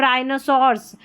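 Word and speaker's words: rhinoceros: आर एच में H silent रहता है। जैसे राइम रिदमम और राइनोसर्स में आर एच साथ में आया है।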